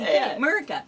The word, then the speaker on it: Murica: that hey wow america no it's spelled m-u-r-i-c murica so yeah behind the